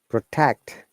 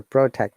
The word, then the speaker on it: protect: correct, trouble, travel, victory, protect or protect, both are correct, guys, if you remember. If it is a verb, we should stress on the second syllable, so protect, contract or contract, both are correct.